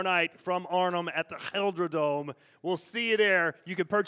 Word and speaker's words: GelreDome: GelreDome.